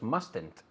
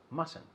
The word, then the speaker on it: mustn't: Ahora, mustn't, hay dos T's, pero no se pronuncia la primera. ¿Ves? No decimos mustn't, es mustn't.